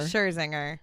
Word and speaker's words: Scherzinger: Scherzinger. Scherzinger.